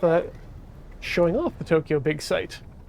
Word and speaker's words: Big Sight: showing off the tokyo big site which is spelled s-i-g-h-t you know like a site but it's funny because